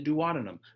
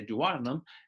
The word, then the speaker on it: duodenum: You remember in the notes, I pronounced it the duodenum. Both words are technically correct pronunciations. All right, go with the one you choose that you like. The duodenum, or as I say, duodenum, is the first of